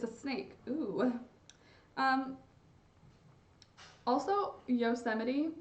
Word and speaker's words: Yosemite: snake ooh um also Yosemite not spelled the way it pronounces am i right yo some ight Yosemite anyway I think that